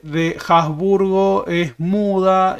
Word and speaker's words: Habsburg: Pero la H en alemán no es muda.